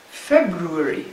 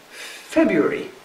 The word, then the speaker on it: February: can have several pronunciations one of these is February February in its first form it is Feb root V this is what the diction will give as the first pronunciation very few people use this pronunciation when they're speaking more quickly they would say February so February would be